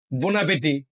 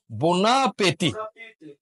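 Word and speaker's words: bon appétit: বোনাপিতি বোনাপেতি বোনাপেতি হ্যাঁ এই যে বোনাপে এই এবার উচ্চারণ দেখেন বনাপে বোনাপেটি পেটি পেটি হ্যাঁ এবার বলেন বোনাপেটি বোনাপে ইংরেজরা বলে এনজয়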